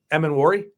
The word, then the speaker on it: Emmanwori: Emmanwori.